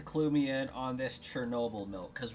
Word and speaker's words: Chernobyl: Most of my life, I heard Chernobyl pronounced as Trenoble, so I always thought it was spelt with a T-R-E.